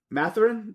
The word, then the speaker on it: Mathurin: They've got a young player in Benedict Mathurin. That's how you pronounce it.